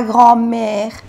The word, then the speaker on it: grand-mère: Igual no se pronuncia la D y con el guión, trait d'union, que se dice en francés. La grand-mère.